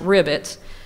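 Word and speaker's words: RIBITS: bank information tracking system and yes it is pronounced rivets and that's a database that has uh all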